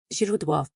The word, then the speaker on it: źródło: This sounds like a soft Z as in the English word azor, or the S in measure but softer.